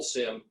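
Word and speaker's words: CIM: The M&A process, you just described a full SIM, confidential information memorandum, which for the life of me, I don't know why that's a soft C to come up with a SIM, but that's what it is.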